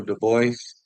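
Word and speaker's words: Dubois: body shot you say his name Daniel Daniel de Boyce de Boyce yeah he's another guy I want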